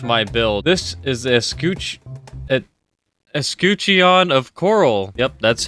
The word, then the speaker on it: Escutcheon: This is the Escutcheon of Coral.